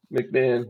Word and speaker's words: McMahon: McMahon. That's Yep. how you pronounce his name.